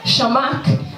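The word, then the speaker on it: Chamakh: So 13 minutes into extra time, Shamak, is that how you pronounce it? Right. Shamak scores the 5th goal for Arsenal.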